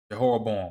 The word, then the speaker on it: Jehoram: Jehoram.